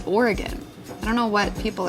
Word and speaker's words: Oregon: people say illinois oregon everybody on the east coast says it's oregon it's not it's oregon i don't know what